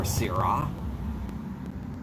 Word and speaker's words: Shiraz: which is i believe it looks like shiraz but somebody said tells me that it's actually pronounced shira okay or syrah whatever my other wine that